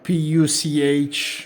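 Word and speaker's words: Puch: of Mercedes Benz diimler and P is uh pu pronounced in German the that's the third brand that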